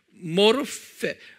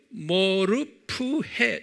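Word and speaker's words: μορφή: 똑같이 이 종, 둘로스라는 종의 종의 모르페, 모르프헤, 정확하게 모르페보다는 모르프헤로 발음하면 좋겠어요.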